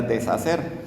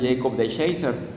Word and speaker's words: DeShacer: Eh, bueno, al principio aparecía, eh, tiene un apellido medio chistoso porque parecía que decía deshacer, pero según lo que estuve escuchando es Jacob de Shaser.